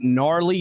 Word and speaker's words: gnarly: Uh, National Get Gnarly Day. Did you know the G is silent and gnarly?